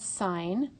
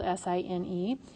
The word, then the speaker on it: sine: first one is called sign and it's pronounced the same way that you say the word sign like that but it's spelled s-i-n-e and it's abbreviated with